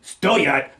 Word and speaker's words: стоят: Putting the stress on the first syllable of the word for cost, we wind up with eti batinki stoyat dorogo.